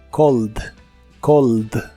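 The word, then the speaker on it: called: es un verbo regular la a se pronuncia como o en esta palabra y la terminación eed se pronuncia sin la e solamente el sonido de la d Cold Cold el verbo Cold en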